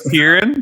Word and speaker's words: Tieran: My name's Tieran. That's how you pronounce it.